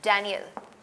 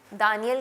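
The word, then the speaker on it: Daniel: इजे कियल था डेनियल क्योंकि इंग्लिश में दानियल की जो किताब है दानियल यल नबी की किताब को उसको आप कहते हैं डेनियल इन इंग्लिश और इकल की किताब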